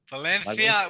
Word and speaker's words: Valencia: nice it's Valenti ajani's Valencia Valencia with a soft C yeah well George speaks